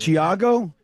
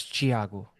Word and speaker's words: Thiago: So in English, the H is silent. Technically, that would be the correct pronunciation. Thiago.